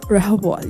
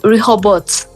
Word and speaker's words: Rehobot: It's Rehobot. You're right. Rehobot. You see that? You don't pronounce the T, I think. We do Rehobot.